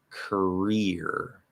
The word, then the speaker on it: career: it's unstressed korea korea okay where in the uh second word it's going to be um you could say cur also in the first syllable or k and then an r consonant there's two ways to do it doesn't matter but the end of the word is going to be ear okay not ear ear so career first word korea career